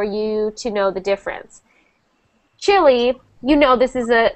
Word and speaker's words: Chile: important uh for you to know the difference chili you know this is a this is a country chili chili chili yes we pronounce uh although although it has the e